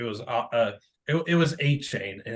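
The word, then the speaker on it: Achane: his last name uh it's Stefan a chain yeah it's just like saying a chain like guys that just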